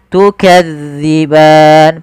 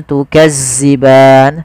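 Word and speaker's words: تكذبان: panjangnya dua harakat tukadziban pada lafal Zal hati-hati ya teman-teman jangan sampai dibaca dengan Zai jangan tukazziban sering terjadi yaitu mengganti huruf dalal dengan Zai tukazziban tukazziban ini sering terjadi kesalahannya harusnya tukadzi tipis dalalnya tidak ada desis tukan kemudianfal ban ada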